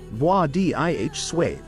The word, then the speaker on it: Władysław: Vwah-dih-swav. Let's break it down. V. Start with a V sound instead of the English W.